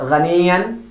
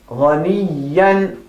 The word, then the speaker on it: غنيا: Not غنيا. غنيا.